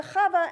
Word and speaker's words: Chava: When someone asked her, how do you spell that? She says, phlegm, H-A-V-A. That's how you would spell Chava.